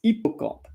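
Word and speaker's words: hippocampe: in that IO and by the way you don't pronounce the h in French so it's not hippoc comp it's hippoc comp as if the the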